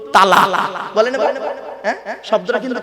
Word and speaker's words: তলাক: Islamic পরিভাষা একটা শব্দ বলেছে কি বলুন তো তালাক বলেন বাপ হ্যাঁ শব্দটা কিন্তু তালাক নয় বাপেরা মারাত্মক বড় ভুল বলি আমরা শুনিনি